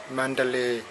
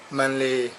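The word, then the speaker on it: Mandalay: ทะเล เมือง มัน ทะเล ก็ พม่า ออก เสียง ว่า สำเนียง พม่า ว่า มันดาเล มันดาเล หรือ ถ้า ใช้ ชื่อ แบบ ย่อ ๆ ก็ มาเล มาเล คมัน ทะเล ไ นี้ เขา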